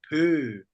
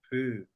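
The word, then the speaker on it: བོད: Okay, before we write down, let me write Pa Narupo Ta Pö, Tibet. Okay? Pö.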